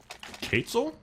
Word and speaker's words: Quetzal: It's more with a K sound, so... Quetzal? Quetzal? I hope somebody will... Quetzal. Quetzal! I don't know how to pronounce it correctly. I'm sorry. I apologize. I thought it was Quetzal, but I guess it's... Quetzal. Quetzal. Think of a queso. Yeah. Because it's Spanish.